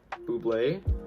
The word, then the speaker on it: bubly: video uh you're actually they're actually called buble as stated in the ad and uh that means we are not sponsored by bubbly because people are saying it correctly right but if they